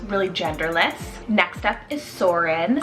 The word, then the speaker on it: Soren: and for girls really genderless next up is soarin spell s-o-r-e-n soren it's both a danish and norwegian name